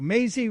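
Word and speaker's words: Mazie: Maisie rhymes with crazy.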